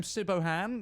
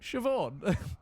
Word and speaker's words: Siobhan: Yes, this name Sibohan, no. Siobhan.